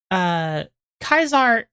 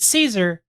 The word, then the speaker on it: Caesar: Technically, Pinball, like, Kaisar is how it's pronounced in Latin.